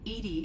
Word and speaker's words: EDI: are you named edie edie is the phonetic pronunciation of edi that is an acronym for enhanced defense intelligence what do you do